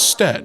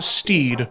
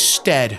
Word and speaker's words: Stead: Our surname is Stead, pronounced to rhyme with bed, but much to my family's annoyance, people often call us Steed.